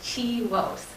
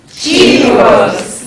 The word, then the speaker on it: CHIWOS: So CHIWOS stands for the Canadian HIV Women's Sexual and Reproductive Health Cohort Study, and we pronounce it as CHIWOS.